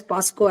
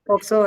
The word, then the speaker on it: POCSO: See, the POXO Act, people actually misnomer as POSCO Act also. Yes, yes, I have seen people mispronounce it. Mispronounce also. It Yeah. is only POXO Act.